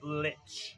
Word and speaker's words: lich: we're Demi Lynch Lich he didn't say lick he said Lich but whatever I don't